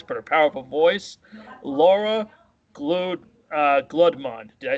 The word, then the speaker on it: Guldemond: her powerful voice, Laura Gludmond. Did I say it correctly? If you want to do it in Dutch, Guldemond, but it is the English pronunciation is fine.